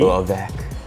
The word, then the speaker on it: Urwerk: I went with the Urwerk UR100V Urwerk! Urwerk, yes its how you pronounce it Yes in the in the normal language because Urwerk just in